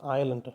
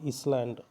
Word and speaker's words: island: It should be pronounced as ஐலண்ட், நாட் இஸ்லாண்ட். சரிங்களா? ஐலண்ட்னு உச்சரிக்கணும்.